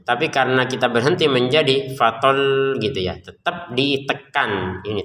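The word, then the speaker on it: فطل: Perhatikan di atasnya lam ada tasdid. Tetap kita bacanya tekan ya, jangan sekedar fatol selesai. Harus tekan fatol gitu ya. Ya tekanannya jangan keterlaluan ya, biasa saja kan.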